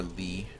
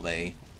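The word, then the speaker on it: Lei: i'm over here yosh now let's get our lee it's pronounced not lay okay so i gotta go here mechanical door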